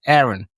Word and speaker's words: Aaron: Aaron. Yeah. Aaron. Yeah. Aaron. Yeah. It's the typical way.